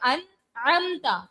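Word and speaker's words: أنعمتَ: अनअमता, अनअमता, ता, ठीक है, लफ्ज है ता पर जबर है।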